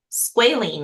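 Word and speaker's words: squalane: Okay, so this last one is squaline. And I had to I had to ask how to pronounce that, but it's spelled s q a l a n e. Squaline is how it is pronounced.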